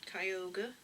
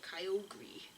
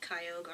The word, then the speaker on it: Kyogre: awesome um i still really like latios um kyogre some people used to call it kyogri i know some people pronounce it kyogri i don't know why but um i like kyogre i think i think i like it more